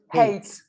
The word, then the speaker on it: hate: Hate. Hate. Hate. Hate. Eight. Hate. Hate. the H no sounds. No, you do pronounce the H.